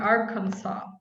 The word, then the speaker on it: Arkansas: well all right um arkansas um you drop the ass the last s yeah i'd have to